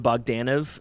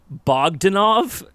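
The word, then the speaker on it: Bogdanove: let me tell you, I thought it was Bogdanov. Like, I had the emphasis on the wrong parts of his last name, and I've never been more embarrassed in my fucking life.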